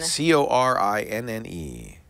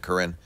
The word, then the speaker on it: Corinne: C-O-R-I-N-N-E. Isn't that how you pronounce it, Corinne?